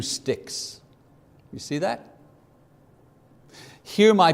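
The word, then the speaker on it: stichs: So Hebrew poetry was divided into lines, and each line was broken into 2 or more parts called sticks. S-T-I-C-H-S, pronounced stick, like a stick, breaking a stick.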